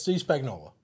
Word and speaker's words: Steve Spagnuolo: Defensive coordinator, Steve Spagnuolo. Is that how you say it? Yes, Steve Spagnuolo.